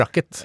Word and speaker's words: racket: Rekkert, som det heter. Ja, det gjør det, men man uttaler ikke æren. I hvert fall synes ikke jeg det. Men æren? Ja, rekkert. Altså, det, noe... det heter jo racket.